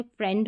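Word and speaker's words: friend: जैसे ब्रेड हो गया आई ई को भी ए पढ़ेंगे जैसे फ्रेंड हो गया ए आई को भी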